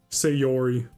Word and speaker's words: Sayori: Sayori.